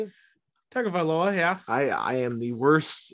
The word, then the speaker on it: Tagovailoa: Tagovailoa, yeah.